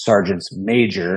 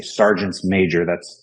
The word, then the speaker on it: sergeants major: And you have to say sergeants major. Everybody's been making that mistake these last few weeks. But that's how you say it. Right. It's a sergeant major. Sergeants major, yeah. Like attorneys general, right?